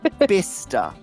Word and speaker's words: Bicester: I'm not even Bri you don't have to spell it Brian it's bister bister oh I got it